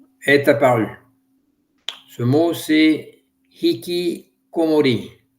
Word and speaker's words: hikikomori: Ce mot c'est hiki comori ou iki comori si je le prononce à la française qui vient de hiki